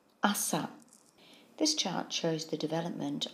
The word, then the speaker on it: 朝: which means morning and it's pronounced Assa this chart shows the